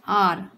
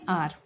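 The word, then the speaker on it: hour: ये लिखा है आर, ठीक है, एच साइलेंट है इसमें, आर, आर मतलब घंटे.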